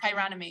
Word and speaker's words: chironomy: I forget how to pronounce the system that starts with CH. Chironomy, yeah.